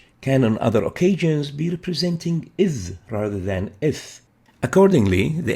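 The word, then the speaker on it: ث: Ith is how we pronounce the tha.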